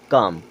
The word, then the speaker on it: calm: CALM, काम।